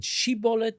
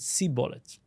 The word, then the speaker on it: shibboleth: And these two tribes differed in their pronunciation of the word shibolet. One of them said shibolet and one of them said sibolet.